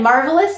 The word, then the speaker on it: marvelous: Once again, marvelous means full of marvel. Us means full of. And which syllable is stressed? Marvelous. It's the mar.